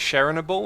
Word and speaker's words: Chernobyl: pronounce that Owen Chernobyl I say Chernobyl like that I've heard other people say it's sharing a ball or something because I was watching